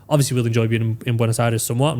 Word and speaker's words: Buenos Aires: Like when we go to Buenos Aires, that's how you say it.